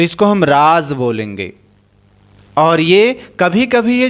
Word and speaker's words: राज़: तो जो यह वाला राज है जिसको हम उच्चारण करते समय हमें इसका प्रभाव दिखाई देगा तो इस वाले का जो अर्थ होगा वो गुप्त बात हो जाएगा।